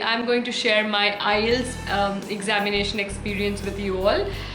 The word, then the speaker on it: IELTS: you can see on the screen it is ielts it is not ilits it's not it's not ilts you can say it is ielts but people